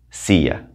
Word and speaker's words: silla: and the last one sia remember l's together two l's mean a y sia la silla the